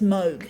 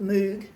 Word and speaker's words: Moog: spelt in double og it's pronounced mode not mood but basically they come